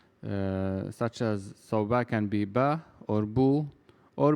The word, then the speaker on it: ب: hartfield so half alba is very similar to the letter b in english it is pronounced ba and it looks like